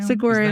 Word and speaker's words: Saguaro: able to tell me is it the Saguaro Showdown saguro Showdown yes saguro Showdown yeah what motivated